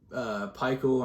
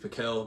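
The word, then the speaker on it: Pikiell: So I don't know what Peichel, I'm pretty sure that's how it's pronounced, Steve Peichel, or I always thought it was Steve Piquel, but whatever it is.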